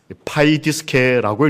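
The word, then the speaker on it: παιδίσκη: 이 글자를 어떻게 읽을까요? 파이디스케라고 읽습니다.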